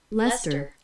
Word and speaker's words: Leicester: 지금 구글에서 음성 서비스 한번 시도해 볼 텐데 라이체스터 브리튼 이게 지금 한국말로 우선은 나와가지고 그래서 일단은 영어로 찍어야 여기에서 pronunciation을 해보겠습니다. Leicester.